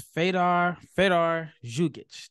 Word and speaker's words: Fedor Zugic: So my guest today is Fedor Zugic.